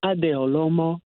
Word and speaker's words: Adeolomo: much for having me I hope I'm pronouncing your name correctly yes it is yes my full name is adeolomo so everybody just calls